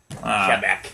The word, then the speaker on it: Quebec: audio engineer welcome back I think it's pronounced Quebec Quebec really yeah not Quebec oh it sounds so much better with the alliteration in there no it's French though kebec and they speak keca